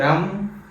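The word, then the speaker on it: रं: रम रम ठीक है रम रम थोड़ा म में उच्चारण आपका थोड़ा सा जी जो है रोक के ऐसे रम रम ऐसे नीचे रख के रम ऐसे बोलना है ठीक है था चक्र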